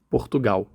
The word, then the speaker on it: Portugal: Portugal. Notice that in Brazilian Portuguese, L is pronounced W at the end of a syllable.